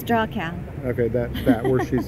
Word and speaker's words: Dachau: trip to and I'll have a hard time pronouncing it, but the Datuch. It's Dachau.